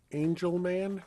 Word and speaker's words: Angelman: And now the request from, is this Angel Man? Is that how it's pronounced?